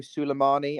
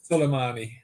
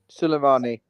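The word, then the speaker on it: Sulemana: Kilimano Suleimani. I mean, that's definitely not how he's pronounced.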